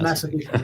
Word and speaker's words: Massapequa: Yes, Massapequa.